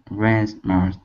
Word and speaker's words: grandma's: Yeah, so when you say grandma's, make sure you have a D here. Sometimes with Vietnamese, you want to say an S or a Z sound instead of D. But yes. Yeah, make sure you get that D sound.